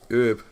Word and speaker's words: herb: In Britain, you tend to say herb, in America, you say herb.